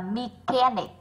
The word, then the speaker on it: mechanic: Và mechanic là âm k.